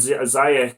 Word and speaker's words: Ziyech: Pulisic really catching the eye since the return, and perfect time too, with Werner and Ziyech coming in. Or Ziyech, I think it's actually pronounced as.